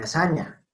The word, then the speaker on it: lasagna: Como en lasaña. Todos creo que habrán visto que se escribe lasagna y todos decimos lasaña porque los italianos dicen lasaña porque los latinos decían o dirían lasaña.